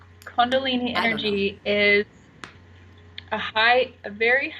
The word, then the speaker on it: Kundalini: showing Kundalini any no I'm saying it right Kundalini energy is a high very high frequency and